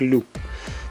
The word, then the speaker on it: LYD: Это не аббревиатура, это слово на датском языке обозначает звук и произносится как лю. Можно произносить, видимо, и так, и эдак, потому что для нашего разговорного языка LYD не очень удобно произносить.